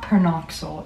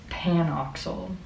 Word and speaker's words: PanOxyl: you okay oh wait it's not per knoxal it's panoxyl my bed that's what that is I thought there was an R but this is what